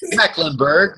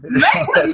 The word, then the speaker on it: Meckemburg: Meckemburg. Meckemburg, yes. Just the normal way to pronounce that, Marquesa.